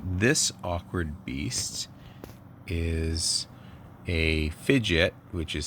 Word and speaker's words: Phidgets: so this awkward beast is a fidget which is spelled p-h-i-g-i-t which is a um a kit